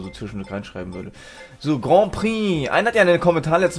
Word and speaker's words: Grand Prix: letztes Mal geschrieben ja das nenn spricht man nicht Grand Prix aus ja ich das bei mir wechselt sich das so Grand Prix so klar spricht man das so aus das weiß ich aber manchal wenn man